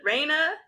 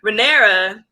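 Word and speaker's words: Rhaenyra: like you said uh raina um i'm i'm still not pronouncing her name right i will eventually guys i'll give you guys thank you renera yeah like you said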